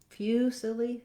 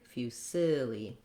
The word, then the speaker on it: fusilli: We have fusilli. Our main vowel stretched out is that middle vowel sound. So rather than few, fusilli, fusilli, middle syllable stress.